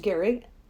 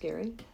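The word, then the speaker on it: Gerry: Uh but Gary Ge Ry. It's it's spelled like Jerry, but it's pronounced Gary.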